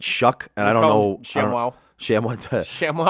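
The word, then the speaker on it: Shough: Although, Tyler, I I'm going to call him Shaw. I'm going to call him Shaw because because that's what it looks like, but they pronounce it Shuck.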